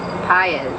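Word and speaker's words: Patz: very famous child, Etan Paez, who is Pate, as some people pronounce it, whose parents have, as the Gosches have, spent endless hours searching for their lost son, and much pain.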